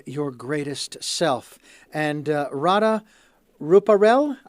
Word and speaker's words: Radha Ruparell: greatest self and uh Rada ruparel I hope I have pronounced that correctly thank you for joining us hi Richard good to be with you and I've got your name pronounced r ruparel you've got it perfectly ah great I'm glad